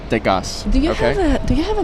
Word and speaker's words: Degas: Degas rhymes with Las Vegas.